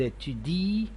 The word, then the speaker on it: étudient: Ils étudient, elles étudient. Notice that we never pronounce the nt at the end of ent verbs. We used to drop the nt when we pronounce.